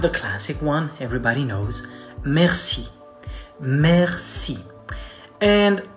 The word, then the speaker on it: merci: and it's important because a lot of people say mercy or mercy mercy it's a different thing okay like please have mercy that's a different word it's spelled differently so we say merci merci merci the accent is on the first part the other one is